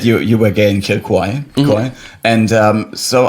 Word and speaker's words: Kilcoy: Kilcoy. Yeah. Kilcoy. Kilcoy is like Kill Bill. Kill Bill was Kilcoy. It's like kill and coy.